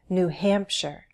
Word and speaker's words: New Hampshire: unfamiliar names for example all the states with new have stress on the syllable that immediately follows New Hampshire New York New Jersey